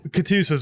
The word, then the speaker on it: KATUSA: Katusas, that's right. I knew there was a way to pronounce that properly.